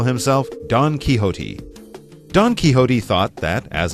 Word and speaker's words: Don Quixote: we tell you that it's a Spanish name, that might make the interesting spelling and interesting pronunciation a little bit clearer. What is it again? Don Quixote. No, not Don. No. Don Quixote. Yeah, Don Quixote. That X there, it kind of throws everything off, but like Mike said, it's a Spanish word.